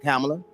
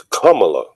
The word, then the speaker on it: Kamala: I thought it was Kamala. He said it wrong. Yeah, one lady told me how to pronounce it was like comma with a la.